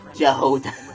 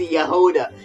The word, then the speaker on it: Jahoda: just pronounce it as Jahoda, Jahoda, when it's Yahoda. It's clearly like Russian or Ukrainian, because you know it's like about the same pronunciation.